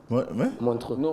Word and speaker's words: Montreux: And how do you pronounce it? Montreux.